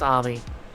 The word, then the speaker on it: Ami: Because you see, she was named after one of the Buddhas of Buddhism, Amitabha. So yeah, it's definitely pronounced Ami. How do you know it's not Amy Taba?